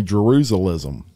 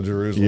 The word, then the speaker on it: Jerusalem: I used to say Jerusalism. No, Jerusalem.